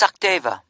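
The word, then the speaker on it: Sachdeva: It's Sakdeva. Okay, can you spell that for me?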